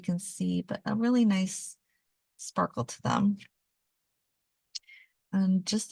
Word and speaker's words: Gneiss: 14 was nice and it's pronounced nice the g is silent and week 15 is